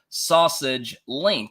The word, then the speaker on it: SASG Links: welcome to sausage link yes it is pronounced sausage link this is a self